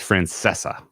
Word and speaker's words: Francesca: It's Francesca.